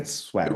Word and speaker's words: Schwagerl: He is Schwagerl. Did I pronounce that right? Yeah, Okay, yeah. awesome. Schwaggle. It Swaggle. rhymes with bagel.